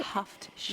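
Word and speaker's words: Haft-sin: How do you pronounce that? Hafshin, Hafshin. H-A-F-T. Hafshin. Yeah. Now, sin means 7, okay?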